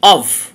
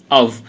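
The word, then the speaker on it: of: Number five, পাঁচ নাম্বারে যা বলা আছে অভ, ও এফ, অভ, এই এর উচ্চারণ হয় অভ, অভ, অভ।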